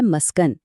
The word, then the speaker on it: مسکن: دیکھیں۔ پہلا لفظ ہے مسکن، جس کا درست تلفظ میم پر زبر کے ساتھ ہے۔ اس کا مطلب ہے